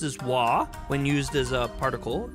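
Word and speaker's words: は: Despite being pronounced as wah, the ha particle is used.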